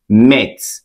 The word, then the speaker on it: meth: chemistry called organic chemistry I've explained that a compound specifically an organic compound with one carbon should be pronounced as met okay I've said this